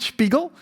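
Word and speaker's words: Spegel: It's called Spiegel. Um it's pronounced a bit weird this Swedish word. Uh it's called Spiggel.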